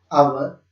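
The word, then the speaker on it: hour: आर, ये ऑनर है, इसे हॉनर ना पढ़े, इसे हॉनेस्ट ना पढ़े, इसे हवर ना पढ़े। इनमें सब में एच साइलेंट है, आप ओ से साउंड स्टार्ट करके पढ़े, आवर, ऑनेस्ट, ऑनर, ऑनरेबल।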